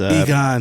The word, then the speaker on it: Egon: This is something that was floating around on the internet or whatever, but I'm going to try to pronounce this guy's last just name. Uses, Egon.